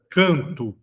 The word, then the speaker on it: canto: Canto, canto. Eu não pronuncio o N.